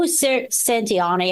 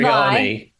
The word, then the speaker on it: Satriani: guest appearances on this track, and it's Joe Santiani. I can't say his name. Steve Vai. Satriani.